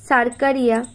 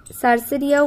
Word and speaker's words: cercaria: স্পোরোসিস্টের পর অ্যারো দিয়ে লিখবে রেডিয়া, তারপর হলো সার্কারিয়া, CERCARIA, সার্সেরিয়াও বলে সার্কারিয়াও বলে, যে যেটা উচ্চারণ করবে।